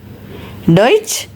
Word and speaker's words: Deutsch: Deutsch, that is German language, and his pronunciation is Deutsch, which also follows a rule of sch, which I will share you next.